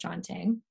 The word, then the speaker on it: canting: um so the chanting it's spelled like canting it's pronounced chanting is basically a wooden